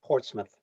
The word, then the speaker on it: Portsmouth: Portsmouth, is that how you pronounce it? Yeah, Portsmouth.